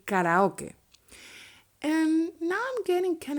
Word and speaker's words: karaoke: and in spanish but the pronunciation is slightly different in english you would say karaoke and in spanish you would say karaoke and there is some